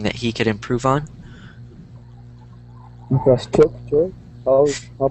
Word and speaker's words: infrastructure: Infrastructure. I'll pronounce that this word. It's difficult. It's pronounced infrastructure. Oh, infrastructure. Infrastructure. So, say it out loud if you need to. Infrastructure. Infrastructure. Good.